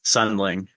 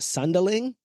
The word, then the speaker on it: Sundling: I just said it's Sunling. Like you just the D is the D.